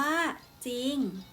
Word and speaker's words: จริง: เท่า นั้น คือ คำ ว่า จริง อ่าน ว่า จริง ต่อ ไป ศ.